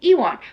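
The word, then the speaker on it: Iwan: The audiobook pronounced it Ewan. It's I-W-A-N. I would have assumed that it was Ewan, like Ewan McGregor. Like, that's how you would pronounce it.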